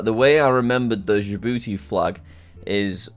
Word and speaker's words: Djibouti: Yeah, Djibouti. So the way I remembered the Djibouti flag is Djibouti is spelled D-J-I booty.